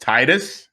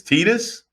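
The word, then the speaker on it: Tidus: any further listeners viewers did you know it's not pronounced Titus it's Titus yeah I know probably some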